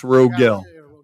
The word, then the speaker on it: Rogel: It's Rogel. Rogel. Rogel. Yeah, there you go. Thank you. He was using the French.